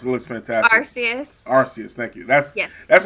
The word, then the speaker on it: Arceus: curious i don't know you pronounce it looks fantastic arceus thank you that's yes that's going to change